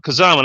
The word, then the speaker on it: Kazama: Kazama, that's how you pronounce it.